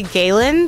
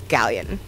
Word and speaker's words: Galleon: galleon how do people pronounce your name incorrectly most often they say Galen but it's pronounced just exactly like it's spelled which is galleon program is already up